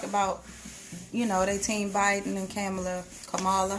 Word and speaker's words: Kamala: I hear a lot of people talk about, they team Biden and Kamala. How do you pronounce her name? Kamala.